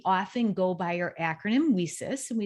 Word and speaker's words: WiCyS: go by our acronym we sis we spell it w-i-c-y-s pronounced we sis like we sisters because that's exactly what